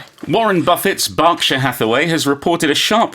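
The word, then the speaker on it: Berkshire: And in the UK, even though it's spelled B E R K S H I R E, we don't say Burkshire. We say Barkshire.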